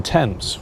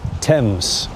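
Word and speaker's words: Thames: Why is it called Henley on Tames? Well, it's because it's on the river Temps. The river tempames is the biggest river in the UK. By the way, the pronunciation is temps.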